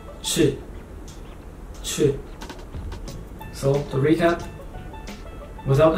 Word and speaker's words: چ: And then next one, three dots inside, ch. Ch. Like cheese. Ch.